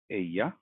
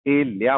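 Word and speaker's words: ella: और दूसरा एग्जाम्पल ले लेता हूँ, एया। ये है एया। अब मैंने नोटिस किया कि बहुत सारे लोग इसको ए लिया बोलते हैं, ए लिया, जबकि ये बिल्कुल इनकरेक्ट।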